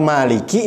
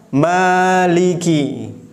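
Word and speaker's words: مَالِكِ: maka jangan ditahan-tahan Hai ada yang bacanya seperti ini Maliki yang like new itu kayaknya ada tasydidnya sedangkan Kav dalam lafadz Maliki ini tidak ada tasydidnya berarti itu salah yang benar meliki Liki bukan milik KYT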